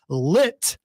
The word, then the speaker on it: lit: Lit has a T in it.